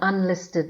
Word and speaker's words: unlisted: Examples: an apple, an igloo, an instructor, an egg, an orange, an ink stain, an unlisted number. The U in unlisted is pronounced softly as a.